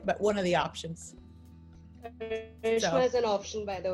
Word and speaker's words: Karishma: Karishma.